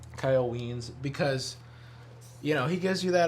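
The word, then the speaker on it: Wiens: Kyle Weens. Rhymes with beans. Kyle Weens, because he gives you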